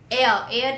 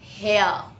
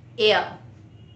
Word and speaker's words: heir: Heir is the person who sits on the throne. Okay. Now children, here the spelling is H-E-I-R. H is silent and we are pronouncing heir.